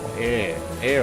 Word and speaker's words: Eyre: Air, I think is how it's pronounced.